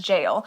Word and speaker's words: gaol: might just be pronounced jail it might just be pronounced jail yeah it's pronounced jail it's gaol but it's